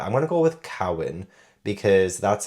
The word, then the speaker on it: Carwyn: And I did look up on YouTube, because like Google said Corwin for the main character, Corwin. But I looked up on YouTube. I looked up some actual Welsh people speaking and saying the name. And they say Cowan.